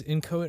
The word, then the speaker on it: Inchoate: It was Inchoate Art Gallery. That's how you say it.